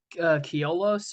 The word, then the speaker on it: Koilos: I'll shout out the band Keolos, or Keolos is how you say it, but it's spelled Koilos.